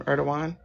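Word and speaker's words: Erdoğan: Oh, that's how you pronounce his name. Erdogan.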